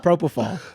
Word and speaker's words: propofol: Propofol. Propofol. Okay, I pronounced that wrong.